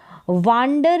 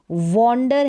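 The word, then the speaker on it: wonder: फिर देखें, यहाँ पर वाश नहीं है, वॉश है। यहाँ पर वांडर नहीं, वॉन्डर है। और यहाँ पर भी वाट नहीं, वॉट है। स्क्वाड नहीं, स्क्वाड है। यहाँ पर ए का उच्चारण औ हो रहा है इन सारी स्पेलिंग्स में।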